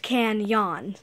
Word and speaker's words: Kanyon: law seasons and stuff it's going to be pronounced can yawn so yeah the magical